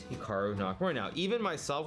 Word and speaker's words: Hikaru: Now, even myself, when I pronounce my name, it's definitely more Americanized versus Japanese. Certainly, if I was pronouncing it correctly, it would be more like Hikaru as opposed to Hikaru, but I've spent so much of my life here in America that that's just how I pronounce it, and everyone does the same thing.